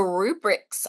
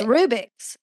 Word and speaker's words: Rubik's: But also the rubrics, I don't think I'm saying that right. How do you say it? Rubik's Cube. I think it's Rubik's. I'm saying rubric.